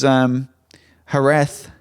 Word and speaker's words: Jerez: This was Jerez. That's how you pronounce it.